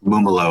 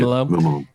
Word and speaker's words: Mumolo: Mumolo, I believe. Mumolo.